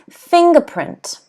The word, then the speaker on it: fingerprint: word here is fingerprint fingerprint okay fingerprint so if you have a look over here the apostrophe's here so the stress is on thing so fingerprint okay can